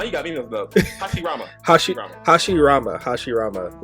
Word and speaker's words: Hashirama: You had Madara and you had Harashimama. I can't pronounce his name. It's crazy. Hashirama? Oh, yo, now you got me mixed up. Hashirama.